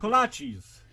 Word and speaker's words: kolaches: Kolaches.